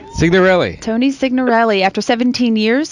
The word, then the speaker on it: Signorelli: So for our next guest, Tony Signorella. Did I say it right? Signorelli? Signorelli.